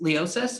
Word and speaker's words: Leosis: beats as you know uh you are leosis am i pronouncing that correctly correct yeah awesome so uh